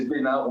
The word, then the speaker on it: Bénard: Juste un petit détail, mon nom c'est Bénard, on ne prononce pas le S.